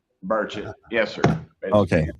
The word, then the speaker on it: Burchett: Burchett.